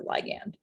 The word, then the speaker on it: ligand: You'll hear it pronounced ligand or ligand. It's the same thing.